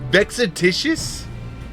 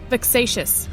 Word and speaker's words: vexatious: Is it vexatitious? Vexatious.